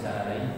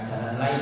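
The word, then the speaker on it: الجلالين: bisa baca dalam tafsir Jalalain, salah satu tafsir yang terkenal ya. Bukan jalan lain ya, tapi jalan lain ya. Ada orang itu salah Pak bacanya, tafsir jalan lain.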